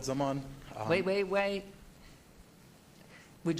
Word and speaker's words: Zaman: please come forward hello my name is Zaman um wait wait wait would you spell it please KH and no no insult there